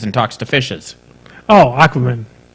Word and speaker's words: Aquaman: Aquemen. It's the story about that guy, and he swims and talks to fishes. Oh, Aquaman. Oh, is that how you... my Latin training, I was just pronouncing it Aquemen.